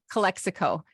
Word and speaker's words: Calexico: Less by is it Calexico? Calexico. Oh, like Mexico, but Calexico.